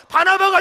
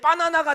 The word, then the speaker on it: 바나바: 돼서 여 시작 아 어 발음을 잘못하면 이 시대의 바나나가 되서요 그러면 얼굴 킨 사람들이 시험